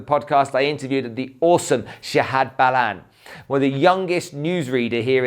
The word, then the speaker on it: Shahad Ballan: So Shahad Ballan, did I say it right?